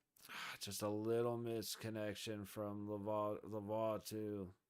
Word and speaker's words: Lavoie: Just a little misconnection from Laveau to or Laveau. I gotta figure out how that's pronounced. I thought I knew. Battle in the high corner in the Vegas zone. Vegas gets it out. It is Lavoie.